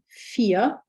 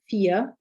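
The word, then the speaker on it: vier: me v okay so words beginning with a v for example fear meaning for the number four fear and then the word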